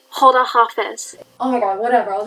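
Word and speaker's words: خداحافظ: It's pronounced Hoda Hafiz.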